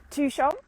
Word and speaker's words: Tuchan: how to say this to shong tuchong so two like number two and sean and that's a village where i live so it's 900 people no it's not it's 800.